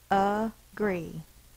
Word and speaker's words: agree: uh is one syllable it does not say a it says uh because it's an a unstressed syllable so let's see if I can make it yeah an upside down e is the schah sound it says uh uh